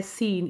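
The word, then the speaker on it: scene: और फिर है सीन, इसमें सी साइलेंट है।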